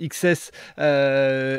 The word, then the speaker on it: XCSS: alors explique-nous ce qu'est ce projet xcss qui se prononce XS explique-nous un petit peu